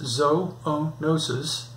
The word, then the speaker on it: zoonosis: That's from zoonosis, pronounced zoonosis, or the English word zoo, meaning animals, plus the Greek word nosis, meaning disease, bacteria, or viruses.